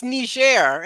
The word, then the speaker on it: Niger: you so much well knee it's it's Nisha it's a French pronunciation I was a former